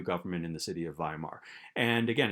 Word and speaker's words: Weimar: government in a city in western germany called weimar that's how you pronounce that word uh and instead of in